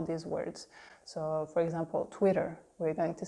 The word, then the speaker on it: Twitter: always that French are always make sure you pronounce the French are in all these words so for example Twitter we're going to say twitter twitter it sounds